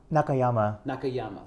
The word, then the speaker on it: Nakayama: So your last name is pronounced how? Nakayama.